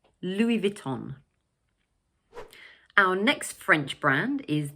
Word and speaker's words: Louis Vuitton: In English we pronounce it 'Louis Vuitton'. So, like in French the final 's' in the first word is silent.